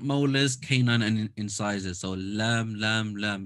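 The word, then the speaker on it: لام: So, Laam, Laam, Laam. This is quite easy in L, almost like the L sound.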